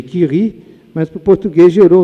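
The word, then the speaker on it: Curie: Em francês, eh, a pronúncia seria Kiri, mas pro português gerou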